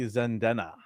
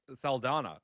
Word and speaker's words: Saldana: Happy birthday to Zoe Zaldana. Oh, Saldana.